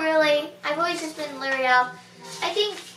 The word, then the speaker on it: Liriel: I've been called Ariel, Lorelai, Muriel, Lariel, Loriel, and a lot of different versions of Liriel, so it's Liriel, not Lariel.